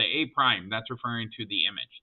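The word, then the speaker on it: A′: um this is pronounced a prime so when you see an apostrophe you're supposed to say a prime so when Mr Adams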